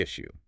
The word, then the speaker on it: issue: And then they ask, "What seems to be the issue?"